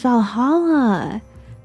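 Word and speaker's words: VA-11 Hall-A: Oh, it's pronounced Valhalla.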